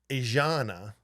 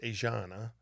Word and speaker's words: Aegina: And this Greek island, it's called Aegina, is how it's pronounced, Aegina.